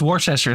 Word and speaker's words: Worcester: It's it's Worcester sauce. I believe that's how it's pronounced.